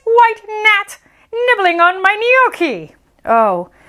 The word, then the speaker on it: gnocchi: english oh no uh g is for gnocchi that's right you're going to see this on a menu at an italian restaurant and you're going to want to say not ganache and it's gnocchi the gnome yells waiter